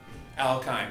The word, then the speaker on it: alkyne: this function how kind alkyne would be the right way to pronounce it alkyne would be a